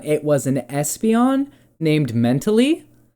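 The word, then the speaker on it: Mentali: not an Umbreon it was an Espeon named mentally spelled like m e it's kind of hard to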